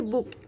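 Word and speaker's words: bouquet: Bunch of flowers কে বলা হয় বুকে।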